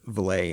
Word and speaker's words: Veilette: I'm pronouncing it Joe Veilette. It's actually Joe Veilette, but when people see how it's spelled, they often say Veilette. Because they mistake the I for an L? Yeah. So it's Veilette.